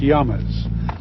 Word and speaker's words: llama: each other's newborn infants llamas are native to South America where they're pronounced yeoman's only a few hundred